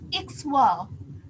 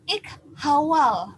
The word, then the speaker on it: ikhwal: Kata KH itu pelafalannya memang dengan K, contoh katanya pada kata ikhwal. Jadi kata ikhwal itu kita baca ikhwal. Jadi bukan ikhawal, bukan begitu. Kalau dalam huruf kita membacanya bisa ikhawal, tetapi pada fonem pelesatan terjadi sehingga KH itu berubah menjadi X sehingga bunyi bahasanya menjadi ikhwal begitu.